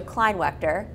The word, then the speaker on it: Kleinwaechter: I am so excited to be here with Joe Kleinwaechter, which is, knowing what it's like to say somebody's name wrong or right, I feel good.